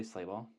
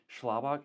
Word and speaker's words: Schlabach: And it's like it's easier to say Slaybal, but Schlabok is the correct pronunciation, but then often people ask, "Hey, how do you spell that?"